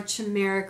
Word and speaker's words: chimera: Oh, chimera. Chimera. So will they be a hybrid or a chimera created in a laboratory? Well, some people say chimera. That's what I was thinking it was chimera, but I wasn't sure.